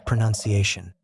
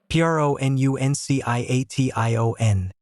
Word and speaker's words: pronunciation: The noun form of this concept is pronunciation. p r o n u n c i a t i o n pronunciation.